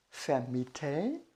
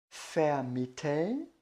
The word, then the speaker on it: vermitteln: É o verbo vermitteln, vermitteln, e do verbo alugar, vermieten, vermieten, tá?